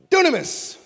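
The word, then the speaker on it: δύναμις: Dunamis, power. It's where we get the word dynamite. In the Greek, it's pronounced dunamis.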